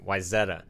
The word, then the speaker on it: Wayzata: way for the record I had to be corrected we were out there for agree act how to work out with them Wayzata it's the correct way to pronounce that one I'm going with a